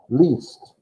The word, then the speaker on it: liest: Least. I-E makes an E sound. E-I makes an I sound when that happens.